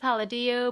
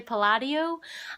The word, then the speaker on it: Palladio: I always thought it was pronounced Palladio, but they say Palladio.